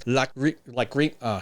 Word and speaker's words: Lachryma: And I had to Google this up because I didn't know how to pronounce it. It was Lachryma. See, I already forgot it. Okay. Listen again, listen. Lachryma. Lachryma.